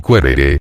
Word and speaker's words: quaerere: Quaerere, pronunciado querere, y luego querere, no era un simple querer algo, sino hacer indagaciones o búsquedas para lograrlo.